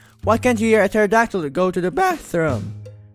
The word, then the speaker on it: pterodactyl: can't you hear a pterodactyl to go to the bathroom oh what a lame joke oh my god the P is silent have you told that